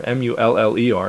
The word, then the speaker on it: Mueller: It became too complicated with the umlauts, and no one pronounced it Mueller. They pronounced it Muller.